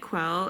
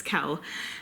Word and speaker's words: Quell: narrator actually pronounces it Kel and it's pronounced Kel, short for Raquel, which you don't actually find out until later on in the book that her full name is Raquel. Anyway, but it's Kel.